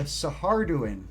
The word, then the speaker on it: Saharduin: old rogue trader models and i discovered the saharduin which is spelled like s-a-h-a-r-d-u-i-n and the saharduin are also